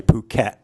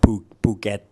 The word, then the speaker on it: Phuket: Again, when I hear foreigners say this word, they use an aspirated K, Phuket, but it's not. It's more like Phuket.